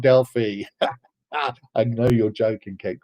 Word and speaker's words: Delphi: The Greeks tell me that it's pronounced Delphi. And they always think it's funny when it's said Delphi.